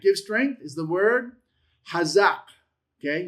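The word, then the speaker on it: חָזַק: That give strength is the word chazaq. Okay, you have the chet qamats, zayin, patah, qof. Chazaq, okay?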